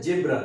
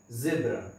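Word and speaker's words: zebra: लोग इसको बोलते हैं जेब्रा, ये जेब्रा नहीं है, ये है जेब्रा।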